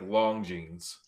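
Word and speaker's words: Longines: You know, Jimmy, it's it's they I always hear them say like long jeans.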